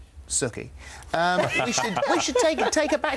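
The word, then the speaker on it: Sookie: always says, it's Suki rhymes with cookie. Suki rhymes.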